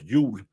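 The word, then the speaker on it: Jul: That's the day that the Christmas beer because Christmas in Denmark is called Yug, which is spelled with a J.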